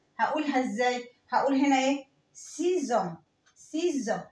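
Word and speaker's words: six ans: سيزون سيزون ز ز سيزون.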